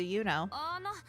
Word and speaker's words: ユノ: Oh, it's pronounced Yuno.